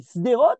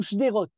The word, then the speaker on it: Sderot: trouble chez les gens pour prononcer par exemple la ville de Sderot se dit Sderot ou shderot et là les gens